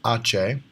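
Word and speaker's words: hache: H is Ache.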